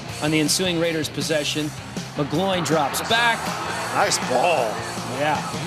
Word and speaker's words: McGloin: Matt McGloin. You mean McGlovin? Willie's going to have me saying his name wrong.